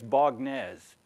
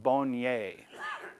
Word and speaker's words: Baugnez: if you were an American you'd say it's boges in French it's pronounced bonier this little it's not a town it's just